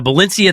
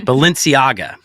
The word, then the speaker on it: Balenciaga: that I really the the Valencia thing not Valencia I said it wrong again Balenciaga the Balenciaga thing really